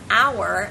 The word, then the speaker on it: hour: when you have a word that starts with a silent consonant for example the word hour as in what hour